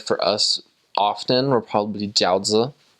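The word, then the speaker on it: 饺子: So something that the Chinese members prepared for us often were probably jiaozi. That's how you say it in Chinese.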